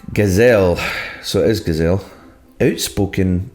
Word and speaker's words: Gazelle: Pronounced Gazelle.